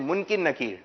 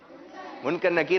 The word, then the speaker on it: منکر نکیر: کچھ لوگ کہتے ہیں منکر نکیر، تو یہ غلط تلفظ ہے. صحیح تلفظ کیا ہے؟ منکر نکیر.